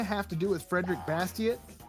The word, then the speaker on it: Bastiat: I've always pronounced it Bastiat because it's French, but Bastiat sounds, yeah, so it's the same thing, right?